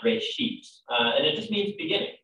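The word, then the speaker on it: בראשית: of it's called genesis genesis comes from a hebrew word it's pronounced ray sheep and it just means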